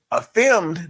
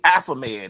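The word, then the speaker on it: Affimed: Affirmed, not affirmed. It was really Affamed, is what it really is, but it's spelled affirmed.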